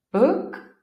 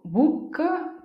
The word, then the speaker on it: book: neighborhood quartiere Ok nota come non dico buc CUC Tuc No non è una U in che abbiamo nella lingua italiana Ma è un suono più corto quindi immagina di non voler pronunciare quasi le due o di volerle o mettere e pronunciare solo le consonanti proseguiamo poi con questo